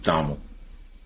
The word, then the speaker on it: Donald: I thought it was Dom. Go Saying it right. No, it's not. Why would it be Tom Hall? I don't know. It's Donald.